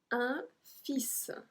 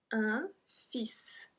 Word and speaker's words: fils: Un fils. Un fils. We don't pronounce the L.